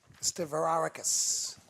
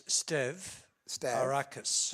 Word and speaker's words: Stavrakis: So how would you pronounce I think it's Stav Arakis? Arakis. Stavarakis. Stavarakis. Stavarakis.